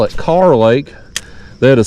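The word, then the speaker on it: Kerr Lake: North Carolina people have educated me it is pronounced car Lake even there's another big splash over y they call it car Lake even though it is spelled cerr k e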